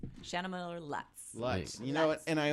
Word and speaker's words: Lutz: Well, that's the German pronunciation, Lutz.